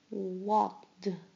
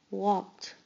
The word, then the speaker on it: walked: Walked. Walked. Walked. You hear the t sound at the end.